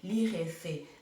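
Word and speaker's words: likhese: So not according to the Bukusu people, when we write KH together, we pronounce it as he, li, he, se.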